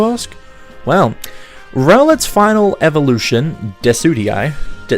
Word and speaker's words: Decidueye: Well, Rowlet's final evolution, Decidueye, I can never pronounce it. I would always misread it as Dekudii.